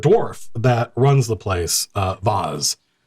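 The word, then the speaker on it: Voz: And the dwarf that runs the place, Vaz, V-O-Z, walks up, not V-A-S-E, pronounced in a posh accent, but V-O-Z comes over to your table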